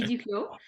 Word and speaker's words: Duclos: have uh Duo Duclos forgive me if I mispronounced your name hi um yeah you you pronounce it uh well in the first time it's DLo and um I am